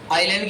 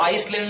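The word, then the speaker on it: island: आइलैंड की spelling में IS आता है, तो इसको आइसलैंड नहीं कहना है। कई बच्चे इसको आइसलैंड पढ़ते हैं, जबकि होता क्या है? आइलैंड। इसके अंदर एस जो है वो उच्चारित नहीं किया जाना होता है।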